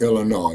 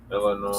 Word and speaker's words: Illinois: me okay okay uh the S is silent in Illinois yes sir I'm quite familiar with that D crew yeah it's a French word actually you're right okay Illinois so uh once again